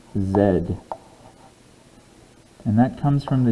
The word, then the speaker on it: Z: but the english alphabet this letter is not pronounced z it is pronounced zed and that comes from